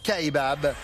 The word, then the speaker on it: Kaibab: Oui, d'ailleurs les Américains prononcent Kaibab.